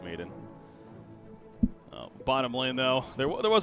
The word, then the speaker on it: Maiden: Maiden, yeah. I keep wanting to say Madden as well for obvious reasons, but yeah, I believe it's Maiden.